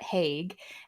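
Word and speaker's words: Haig: Midnight Library by Matt Hague and I I think that's how you pronounce his last name it's h-a-i-g and it's narrated by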